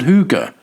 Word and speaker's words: hygge: Hard to explain and even harder to pronounce, the Danish word hygge, pronounced hygge, has exploded in popularity around the world.